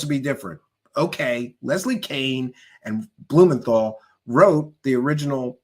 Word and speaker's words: Kean: Leslie Kain. All right, I'll say it right. The lady spells her name K E an. That's Keen to me. But no, she wants people to say Kain cuz she wants to be different.